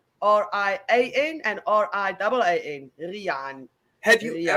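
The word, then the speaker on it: Riaan: And it's pronounced Rian. R-I-A-N and R-I-A-A-N.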